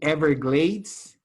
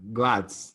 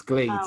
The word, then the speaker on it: Everglades: We say Everglades. Everglades. Yes, you mentioned glads. It's glades. Okay, Everglades.